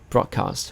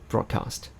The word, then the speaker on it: broadcast: be a noun, and they're pronounced in the same way. Okay, when it is a verb, we say broadcast. When it is a noun, we still say broadcast.